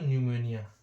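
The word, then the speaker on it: pneumonia: हमें इसको बोलना है एक होता है दोस्तों निमोनिया निमोनिया निमोनिया ठीक है 20 में हमारा हमारा साइलेंट होता है एन ई यू एम ओ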